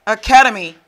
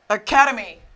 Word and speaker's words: academy: Academy. Ok, the stress is here. Academy.